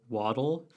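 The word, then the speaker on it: Waddell: So the other person who's also kind of underappreciated, like maybe the loop itself, is the designer, John Alexander Low Waddle.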